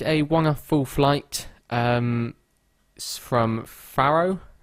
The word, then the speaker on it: Faro: It's just a one-off full flight from Faro, I think that's how you say it, or Faro. Or Faro. I think there's different ways to say it depending on where you're from, but I would say Faro. I think Americans say Faro.